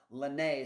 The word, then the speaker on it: Laynee: Her name is Lenee, so accent on the second syllable for anybody that was wondering.